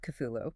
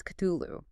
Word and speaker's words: Cthulhu: And the entity's name is Cthulhu. Phonetically, it is almost indistinguishable from Crowley's Tutulu. It's exactly the same sound.